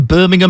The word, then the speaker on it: Birmingham: what's called project birmingham birmingham i was going to say birmingham because my family's from birmingham in england so that's how i was going to pronounce it but i got to remember it's birmingham so this is project